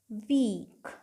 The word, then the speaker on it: weak: Example ले लेते हैं, जैसे WEAK, वीक। ये देखिए 2 कॉन्सोनेंट WK, इनके बीच में 2 वाउल EA, क्या पढ़ रहे हैं हम इसे, वीक।